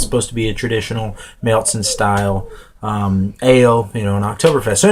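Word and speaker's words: Märzen: The style, as I just said, is a Marzen, or as a lot of Americans pronounce it, a marzen, or an Oktoberfest.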